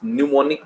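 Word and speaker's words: pneumonic: एंड PP, that is न्यूमोनिक plague. P से शुरू होता है, न्यूमोनिक plague. P is silent.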